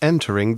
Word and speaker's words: entering: 이렇게 I가 오는 경우에는 R을 발음을 할 수밖에 없죠. entering 이렇게 발음할 수밖에 없다라는 거예요.